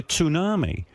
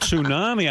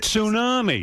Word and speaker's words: tsunami: And I said to my wife, "You know, they're carrying on like they're expecting a tsunami." And she goes and she goes, she goes, "Tunami?" I go, "Yeah, tsunami."